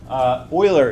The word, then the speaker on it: Euler: not it's Euler circuits Euler is how you pronounce this guy's name an Euler circuit in